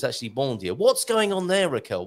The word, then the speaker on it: bom dia: B-O-M, that should be bom dia, but it's actually bom dia. What's going on there, Raquel? Why are we saying an N sound instead of an M sound?